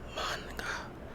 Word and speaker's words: manga: Originally a niche of genre of graphic novels originating from Japan, the popularity of manga, the correct pronunciation of the ancient speakers is manga, has exploded onto the mainstream over the last few years.